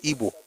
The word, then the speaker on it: Ibo: They don't call it Ebo, but it's not either. It's Ebo. So, it's Ebo, but the spelling will be IBO.